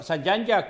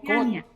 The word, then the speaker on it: Zyanya: Bueno, doctora, Sayanya es, ¿verdad? ¿Es correcto cómo pronuncia su nombre? No, mi nombre es Ciania. ¿Ah? Ciania. Yanya. No, Ciania. Ciania, ok.